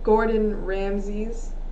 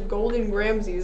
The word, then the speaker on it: Gordon Ramsay: how you say him she literally says golden ramses and i was like that's adorable but that's not how you say it i won't say golden i would never say golden ramsay's you say gordon ramsay's though yeah sometimes i'm